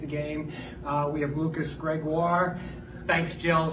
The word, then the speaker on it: Gregoire: We have Lucas Gregoire. Thanks, Jill. That's a shout out to Jill with that pronunciation there. Almost like Jaguar, but yeah.